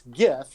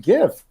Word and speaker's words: GIF: He told us it's pronounced GIF.